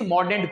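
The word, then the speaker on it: Mordaunt: जो उसके बाद मिस मॉर्डेंट हैं, अच्छा डोंट नहीं पढ़ते हैं, मोर डोंट नहीं पढ़ते हैं, मोर डेंट पढ़ते हैं। ठीक है, डेंट पढ़ते हैं इसे। ठीक है, DENT डेंट प्रोनाउंसिएट किया जाता है।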